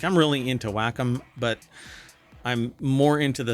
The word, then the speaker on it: Wacom: Um but uh it says here Waycom partners with Blender to enhance pen and touch tools for 3D creation across platforms. Whackom is what it's actually pronounced.